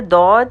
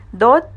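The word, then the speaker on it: ضاد: دود ادا ہوتا ہے۔ The letter دود is pronounced by touching the side of the tongue with the upper 5 molars۔ دود تمام حروف میں کچھ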